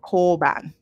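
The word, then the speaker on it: 交番: And it's called koban. Koban. It's a long O. So let me put that in there so it doesn't. The long O is usually represented by OU, koban.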